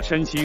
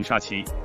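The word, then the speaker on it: 山西: 宋佳和佟大为问他家乡时，他一直把山西说成沙溪，单宇豪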